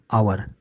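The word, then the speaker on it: hour: हैं तब क्या करेंगे जैसे एच ओ यू आर आवर शरू एच से हो रहा है लेकिन इसे उच्चारण आवर पढ़ते हैं आ और आवर आ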